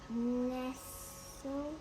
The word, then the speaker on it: nestle: Nestle. Remember the T is silent. Nestle.